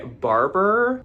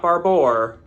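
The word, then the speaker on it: Barbour: These are by Barber. And look at that. I actually said it right for once. So, not barbor.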